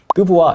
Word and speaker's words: TBWA: TBWA 혹은 뭐 뜨부와 이렇게 많이 읽으세요.